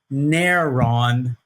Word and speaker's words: Neron: Now, you may have heard that I had an N sound at the end of that, because in many languages, not just biblical Greek, it's common to want to snap on a consonantal sound at the end of a word that would otherwise end with a vowel.